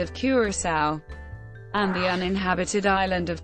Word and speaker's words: coração: Unstressed O in continental Portuguese are usually pronounced U, so the Portuguese word for heart, Curacao, is actually pronounced Curaçao.